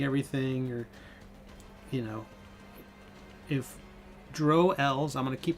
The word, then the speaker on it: Drow: And so my character was in 1988 a Drow elf, and I didn't want to call him. I wanted to rhyme with crow, not with cow.